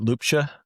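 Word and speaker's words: Ljubša: I've been buddy or, and I want to pronounce the last name properly in Slovenia. Is it Ljubsa?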